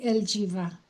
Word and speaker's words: Elgiva: Elgiva, thank you so much for speaking today. Thank you, Alison. You didn't do so badly. It's very good. Your pronunciation is good, but they usually call me Eljiva.